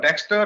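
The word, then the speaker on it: Dextr: so we built this software called texter that's pronounced dexter but type d e x t r with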